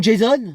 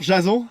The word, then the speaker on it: Jason: Bonjour Jason. Ouais, ça se prononce plutôt Jason comme à l'américaine.